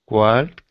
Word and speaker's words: walked: Walked. Walked. Walked. Don't say the L, no L sound, just walked.